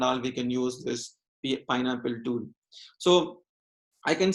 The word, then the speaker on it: PyNLPl: Generally people, if you want to pronounce this PYNLPL, it's called Pineapple. So we need to pronounce like this, Pineapple. When you go to their official websites, they will say about this, we need to pronounce it as the Pineapple only, which is also most